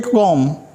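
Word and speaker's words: comb: फिर देखिए ये कॉम, बी का उच्चारण नहीं है, आखिरी में है।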